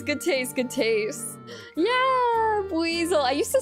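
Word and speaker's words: Buizel: Yeah, buzzel. I used to say I I used to not know how to pronounce them. I used to say basel like a weasel.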